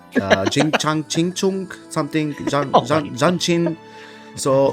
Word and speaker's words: Jinhsi: Jing Chang Ching Chung something Jianxin. So Jinhsi. yeah, Jinshin.